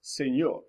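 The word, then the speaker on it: señor: your end it changes the sound from an end from a normal end to this enya sound so you have words like senor like or the sort pinata or even words that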